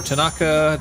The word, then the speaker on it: Tanaka: buddy again tonight yeah or uh mutatu or Tanaka tonight I'm going to go to Tardis do